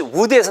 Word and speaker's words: wood: 이것도 역시 wood에서 나온 거죠. 발음이 절대 wood 아니고요. 보세요. 입술을 내민 상태에서 시작하셔야 돼요. wood, wood. 됐죠?